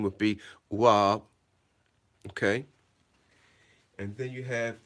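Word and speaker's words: waw: The third vowel letter is the, now on this flashcard, unfortunately, it says vav, but the correct pronunciation would be wab.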